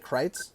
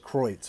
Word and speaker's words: Kreuz: Kreuz? Yes, sir. Okay. Yes, sir. Yeah, that's the real pronunciation German is Kreuz. Kreuz. Okay. Yes, that's the real German pronunciation.